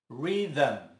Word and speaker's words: rhythm: Rhythm. Como se tivesse um A entre o H e o M.